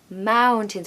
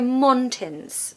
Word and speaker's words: mountains: need ow mountains mountains we don't want to hear monts okay or montains it's mountains the second part is like tins like a tin of soup think of that word tin and you'll pronounce it perfectly now again if you